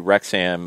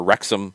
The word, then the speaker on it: Wrexham: now people are getting really wild with different pronunciations prius and prius yeah um ricky we have not talked about our new rexam uh or wrexham sorry that's another one uh overlords yet today